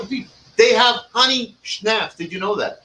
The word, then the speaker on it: schnapps: the power of the people they have honey schnapps did you know that it's not honey how do you pronounce the stop stops not snaps it's not a cracker it's an eight naps